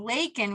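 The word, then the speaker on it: Laykin: And then Lakin, we had this moment of inspiration to flip-flop it. And so Lakin was L-A, we changed it so people say it right, L-A-Y-K-I-N.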